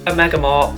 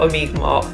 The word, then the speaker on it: Omega Mart: And by the way, I think I was pronouncing that wrong because our Uber driver pronounced it Omega Mart, not Omega Mart.